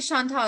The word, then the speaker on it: Chantel: I'm talking to Chantal Coates, and yeah, I say Chantal.